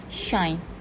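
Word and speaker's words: sinh: okay so hyperbolic shine hyperbolic sine is pronounced by s shine okay so we have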